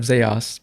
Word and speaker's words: Zos: Likewise, the town of Zos, pronounced as socks, has no set rulership.